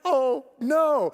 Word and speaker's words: Ono: a plane it's called ono it's spelled o-n-o but it's pronounced oh no people are like oh